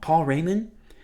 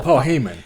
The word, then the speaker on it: Paul Heyman: Paul Heyman. Heyman. Heymon. Replace the R with the H.